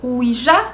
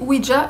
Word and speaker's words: Ouija: Ouija est prononcé de différentes façons, soit Ouija, Ouiji, Ouija, Ouija. Moi, personnellement, je dis Ouija, j'ai toujours dit Ouija.